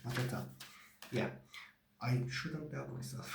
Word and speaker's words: Mateta: I'm not very good with names, so I have to check to pronounce them well. Mateta. I was saying it right. Mateta.